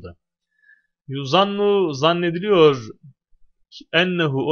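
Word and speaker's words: أنّ: Ennen neticete, netice onun ismi, hasene onun haberi. Ama niye inne değil de enne? Çünkü meçhul fiilden sonra inne değil de enne diye okunur yani.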